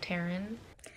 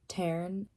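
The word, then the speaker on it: Tairn: with the audio, but in the audiobook they say his name Taryn, not Taryn, like T-A-I-R-N. They say it T-A-R-I-N. Taryn instead of Taryn.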